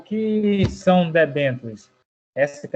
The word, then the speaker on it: debêntures: O que são debêntures? Essa que é a pronúncia, professor? Isso mesmo. Uhum. Então, debêntures são títulos de crédito emitidos por empresas e negociados no mercado de capitais.